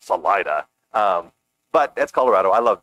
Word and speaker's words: Salida: I mean, like, these are butchered Spanish. It's Salida, my friend. It means exit, and not Salida.